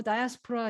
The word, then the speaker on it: diaspora: 따지면 자 여러분들이 보세요 미국에서는 뭐 다이아스프라 이렇게 해야지 뭐 많이들 그렇게 발음하잖아요 그런데 이것도 이제 세계적인